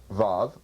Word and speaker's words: Vav: The Vav, pronounced Vav, spelled Vav Vav in Hebrew, has either a vowel sound of O or U, or it's pronounced as a V, a little F-ish kind of V.